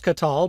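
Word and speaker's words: qatal: aspect verb conjugation, and it's pronounced katal because this would be the form of the kal perfect third masculine singular.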